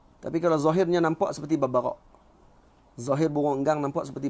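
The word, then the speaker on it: الببغاء: Al-babbagha, cara bacanya babbagha.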